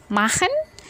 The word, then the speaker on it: machen: Machen bacanya adalah machen, bukan machen.